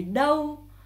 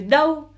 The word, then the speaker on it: đâu: Combiné après avec le U, A chapeau et U se fait OU.